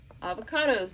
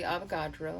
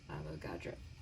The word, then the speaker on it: Avogadro: atoms or molecules you need avocados number it's actually avogadro you should probably say it right for some of you only hearing it for the first time avogadro sometimes i think i'm